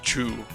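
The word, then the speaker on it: チュー: It actually says Chu. If you read the katakana up there, the two is pronounced as Chu.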